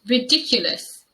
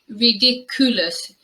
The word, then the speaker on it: ridiculous: an expert at sewing this word is pronounced ridiculous ridiculous i think the mispronunciation mostly happens in the third syllable and sometimes i hear this as ridiculous and it's really important that you use the sound and the schwa there on that third syllable and the example